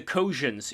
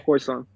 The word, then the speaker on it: Khoisan: It would be like for example, it would be like if the Kojans, the Kojans. I'm not saying it correctly, am I? Khoisan. Khoisan, thank you.